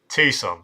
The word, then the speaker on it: Tucson: Tucson sounds much better. Appreciate the guys. Do throw in pronunciation guides.